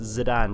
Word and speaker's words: Zidane: But as it turns out, it's actually pronounced Zidane, despite being spelled phonetically as Zidane.